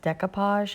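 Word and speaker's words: découpage: I don't think this is, I think it's pronounced decoupage.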